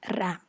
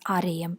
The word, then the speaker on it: RAM: access m from memory ram so you don't pronounce it as REM you pronounce it as RAM similarly we have UNESCO